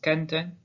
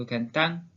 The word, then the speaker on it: canten: Ensuite, canten se prononce canten plutôt que cantan. C'est la troisième règle d'accentuation. Les verbes qui se terminent par un N, et uniquement les verbes, s'accentuent sur l'avant-dernière syllabe. Canten.